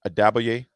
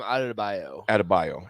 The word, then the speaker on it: Adebayo: How do you pronounce Bam's last name? Adebayo? Bam Adebayo.